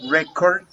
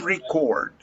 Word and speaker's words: record: venues apart from record remember that record is in this place a noun it's not a verb the verb is record record different pronunciation but the same spelling okay relax care what